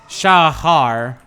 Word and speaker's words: Shahar: but if you're curious It's sha Shahar where the uh is the throaty German Sound that is a hell